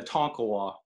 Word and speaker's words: Tonkawa: how is it pronounced that was the proper pronunciation it's a tonkawa now that's your hometown born and raised yep